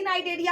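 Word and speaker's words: Cnidaria: तो देखो, फिर यहाँ पर सी नाइडेरिया आ रहा है, बट यहाँ पर सी क्या है? सी साइलेंट है।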